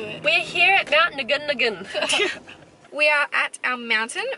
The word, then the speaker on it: Ngungun: I would have said Ngungun. No, it's Ngungun. It's not silent.